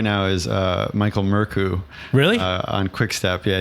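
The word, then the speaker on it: Mørkøv: His name's pronounced Murku.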